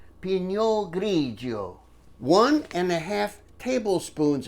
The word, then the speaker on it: Pinot Grigio: cup of white wine Pinot Grigio you have to say it like that Pinot Grigio one and a half